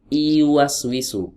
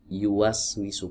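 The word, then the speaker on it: يُوَسْوِسُ: ke bahasa kita itu sama seperti huruf y u was we show bukan bukan iwas wisu bukan iwas wisu tapi iwas we show pakai huruf y yang ini pakai huruf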